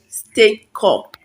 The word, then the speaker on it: Stakecut: It is stake, not state. Stakecut.